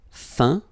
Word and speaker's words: feint: Feindre, feint. Peindre, peint. Teindre, teint. Okay, as usual, final T not pronounced.